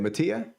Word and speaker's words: Mattia: And Mattia, is it Mattia? How do you say it? Mattia? It's Mattia. Yeah, Mattia kind of like,